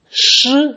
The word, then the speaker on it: 师: Shi is the first tone.